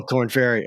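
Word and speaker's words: Korn Ferry: the corn fairy tour oh corn fairy okay and that's how you say it and um then of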